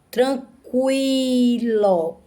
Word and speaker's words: tranquilo: Tranquilo. Cuilo. Parece que é C-U-I-L-O. Tranquilo. Tranquilo. Pronúncia da letra U.